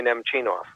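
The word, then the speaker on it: Nemchinov: you drop out just practice dropping off the middle syllable and say nem Knopf namnam them go off so I did a few times to him and he said it's easy isn't it I said yeah and he said okay now put the middle syllable back and say nem Chien off and it worked so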